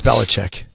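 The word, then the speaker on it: Belichick: say his name anymore bill it's Bill it's bellich Bill bellich yeah because you your sinus is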